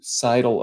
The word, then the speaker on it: Seidel: got it right here's here's for people who are wondering how you say my name there you Sidle up to the bar